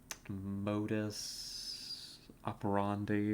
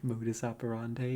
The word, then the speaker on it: modus operandi: in something like a Latin Modis operandi or something I butchered that pronunciation modus operandi yeah which is desperation